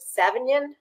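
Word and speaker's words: Savagnin: region are seven how do you say that savion savion okay that's your signature grape tree lussard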